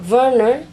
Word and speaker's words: Werner: We combine it from my name, and Werner in German. Werner, actually it is pronounced silent V for W in Germany.